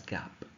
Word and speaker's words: GAAP: of all we have Gap gaap pronounced as Gap those are set of